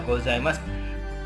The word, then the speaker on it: gozaimasu: seperti Ohayo gozaimasu ya gozaimasu gozaimasu bukan bukan cie ya bukan Z ini ya kurang kurang benar pengucapannya jadi arigatou gozaimasu arigatou gozaimasu ya huruf Sudi sini ini biasanya dibaca di Madya es begitu Ho gozaimasu gozaimasu arigatou